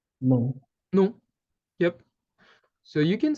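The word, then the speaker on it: nom: from what you hear in French we have no uh if we're being kind of logical with how it's written here uh we would say num because we can see the consonant at M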